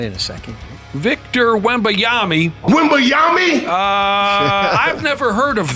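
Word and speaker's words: Wembanyama: stats okay wiba Yami wami is how you say it not even done yet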